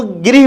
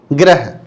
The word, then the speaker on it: गृह: इसलिए जब भी आप इसका उच्चारण करें तो इसको गृह बोले। आप क्या बोलना है आपको? गृह, ना कि ग्रह।